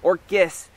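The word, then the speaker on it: Orchis: this is the showy or kiss Galliera spectabilis and Orcas is not a mispronunciation there is a genus of orchids known as orcas mainly found in Europe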